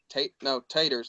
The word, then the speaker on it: Taters: Rising down to Tards, basics. I think Taters, not Tards, my bad. He spells it weird, so I said it wrong.